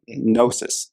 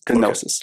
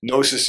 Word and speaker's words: gnosis: So on the last note, gnosis. So it's not gnosis, ladies and gentlemen. It's not GNOSIS. It's the G is silent, as I've learned today.